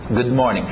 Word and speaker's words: good morning: Good morning. Você vai ver esse D ficar meio engolido, mais suave, ok? Good morning.